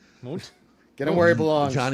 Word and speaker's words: Mundt: I know how to pronounce it. Bring him home. Johnny Mundt. Mundt. Get him where he belongs. Johnny Mundt.